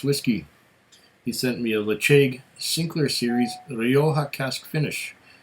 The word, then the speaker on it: Ledaig: Ledaig Sinclair Series. Someone would pronounce it Ledaig, but I pronounce it Ledaig. Just because. I know Ledaig is probably the preferred way of pronouncing it.